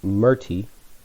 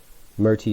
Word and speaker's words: Merti: 17, the twin Merti. Merti is spelled M-E-R-T-I.